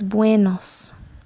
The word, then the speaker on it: buenos: buenos weirdness way nose so when you say it fast that way sounds like a w way okay so it's buenos and the next one